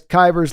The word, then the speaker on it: Kivers: And it's Kivers like, Kivers like killers.